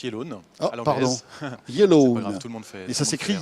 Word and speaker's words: Yelloan: votre entreprise alors yellowan ok alors ça se prononce yellone yellow leeit et ça sécrit yellow y e